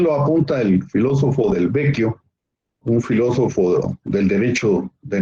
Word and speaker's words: Vecchio: Giorgio Del Vecchio, se escribe B-E-C-C-H-I-O, o sea, se escribe realmente Vecchio, pero se pronuncia Vecchio en italiano.